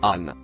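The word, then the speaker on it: أن: Le mot écrit en violet se prononce an.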